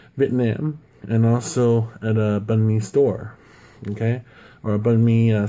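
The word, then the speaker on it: bánh mì: to have maybe here I'll have something called bunme it's spelled b a n h dashmi uh boom and then I should have another word Buu n dasme and that's the easier way to pronounce bunme um there's even a restaurant called bunme but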